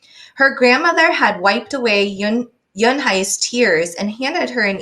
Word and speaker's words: Unhei: Uni, some kids chanted. No, Yun-hae corrected. It's spelled Unhei. It's pronounced Yun-hae. Oh, it's Yuhei, the boy said.